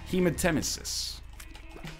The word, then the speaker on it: hematemesis: Hematemesis.